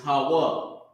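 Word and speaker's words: הוה: So the word for present, a word that's for like the present is Hawa, because it means to be, to exist. Hawa. Okay? It's pronounced Ha-wa.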